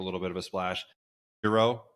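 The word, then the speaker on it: Xero: Hero is one spelled with an X. Xer O.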